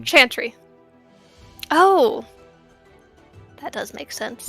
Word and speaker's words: Chantry: the chandry uh it's it's pronounced Chantry like like chanting Chantry oh that does make